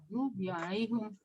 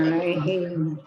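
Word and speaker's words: عليهم: Dalam imam qiraah juga ada yang membenarkan. Alaihum. Cuma kan Walaupun yang tidak paling bi. umum yang sering kita dengar di telinga kita, imam kita itu bacaan kita Alaihim. alaihim. Alasannya karena beratnya pengucapan.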